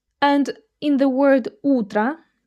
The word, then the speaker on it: утро: And in the word "утро", "утро", the last vowel sounds like "а". Like a reduced "а".